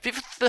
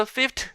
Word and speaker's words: fifth: 그럼 어떻게 발음해? 이 두 사운드가 왜 발음하기 어려워요? 둘 다 프리커티브 사운드기 그래요. 프리커티브 사운드이기 때문에 마찰음이 연속해서 왔기 때문에 그렇습니다. 그러면 하나를 다른 걸로 바꿔주는 거야. 한 마찰음을 스탑 사운드로 바꿔주는 거죠.